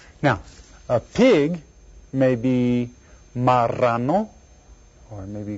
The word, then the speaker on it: marrano: And if you look right down here, see it's got the double R thing? That's where you go R. Marrano.